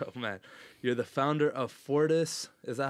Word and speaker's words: Fortis: blurb before and man you're the founder of Fortis is that how you say it yeah Fortis spine and sport where you focus on sports